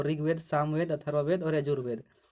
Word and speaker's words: अथर्ववेद: यहाँ पर अर्थवेद नहीं होगा, अथर्ववेद होता है।